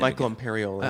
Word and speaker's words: Michael Imperioli: Michael Imperioli.